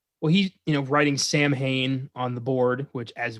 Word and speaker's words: Samhain: of character yeah well he's you know writing samhain on the board which as we know because we did the trick or treat episode is pronounced samhain silent uh but he's like pointing you know